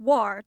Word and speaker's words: war: nod to original pronunciation pronounce War to rhyme with jar Mar and Scar also warik warlike and